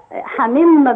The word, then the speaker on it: حميم: حسام كده على السريع كلمه حميم لما وقفتي وقفتي بالتنوين ولا وقفتي بكسره او برو الح حميم اه لما وقفت لا لا حميم بالسكون اه السكون ما ما